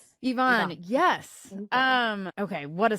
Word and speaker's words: Yvonne: Is that how you pronounce Ivonne?